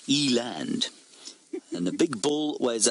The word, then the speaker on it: eland: thisand aren't they lovely Eland I suppose is what I should be saying Eland is the Africans pronunciation I got shouted at